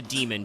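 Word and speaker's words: daemon: this is you know demon with the the EA even though you normally pronounce that demon anyway but that's a smarter design for magic because it means that you can just include demons.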